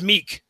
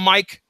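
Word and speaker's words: Miek: Guy by the name of, I'm going to pronounce it as Meek. How's that? Are you guys going to call him Mike?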